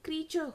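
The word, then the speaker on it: creature: नहीं, this is क्रीचर, जैसे फीचर होता है FEATURE, है ना, उसी तरह से ये क्रीचर होता है, ठीक है, क्रीचर, क्रीचर, क्रीचर, क्रीचर, ठीक है, इजी।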